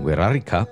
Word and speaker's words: Wixárika: world alphabet for example the X in huerarika is pronounced and written with a rolling R sound I'll try to use